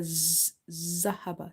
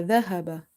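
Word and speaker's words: ذهب: The moment you make it come out like this, la zahaba. This sound then it will replace itself with za. Okay, so it's dhal, la dhahaba, dhahaba.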